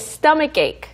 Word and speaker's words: stomach ache: 그런데 이게 연결되다 보니까 약간 cake처럼 들려요. Stomach cake. Yes, it's really weird, but it's stomach ache.